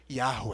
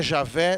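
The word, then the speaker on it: Yahweh: alguns acredito que seja Yahoo é e não existe a pronúncia Jota no hebraico portanto não é Javé nem Jeová no entanto se você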